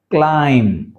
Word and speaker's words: climb: only టామ not tomb బో అనకూడదు right టామ క్లైం క్లైం క్ ల క్ల ఐమ క్లైం డం డం